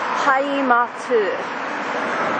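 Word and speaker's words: 하이마트: Hi-Mart in English. In Korean, Hi-Matu. You just have to add extra syllables to every English word you speak to get it right.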